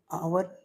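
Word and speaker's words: hour: Next question, question number 11 है कि सी इज आवर late. तो यहाँ पे आवर लेट है, तो आवर में जब आप आवर का प्रोनाउंसिएशन करते हैं तो ये होता है आ वर।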